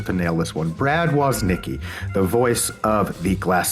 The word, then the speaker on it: Woznicki: I feel like I just changed it from when I just asked you how to pronounce it. You say it. Brad Woznicki.